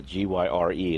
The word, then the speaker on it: gyre: That's the G-Y-R-E. It's pronounced Gyre. I looked that up.